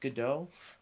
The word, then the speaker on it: Godot: They usually pronounce it Godot. Is it Godot? I think it should be pronounced Gato. That's how Samuel Beckett pronounced it.